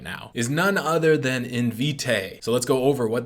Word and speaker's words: Invitae: They gave it such a complicated name, they got to teach you how to pronounce it right away. Invitae.